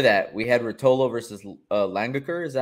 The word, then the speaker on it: Langaker: we had Rotolo versus langaker is that how you pronounce it uh longer curve longer so it's like long l-o-n-g but with an a got it all right